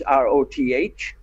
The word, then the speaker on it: Roth: Rebecca is spelled with a K-A-H at the end, and Roth is R-O-T-H. It's like the beginning of the name Rothschild.